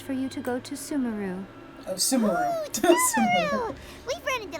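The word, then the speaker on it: Sumeru: would be easiest for you to go to sumaru oh sumaru we've run into loads of Scholars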